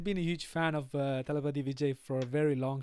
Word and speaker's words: Thalapathy: I say telepathy, but that's not correct then. No, Telepathy. Thalapathy.